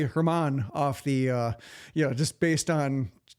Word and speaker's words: German: I'm under the impression it's German, like the language.